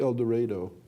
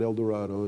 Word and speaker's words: Eldorado: small town in Kansas called Eldorado they pronounced it that way not Eldorado in Kansas and he lives with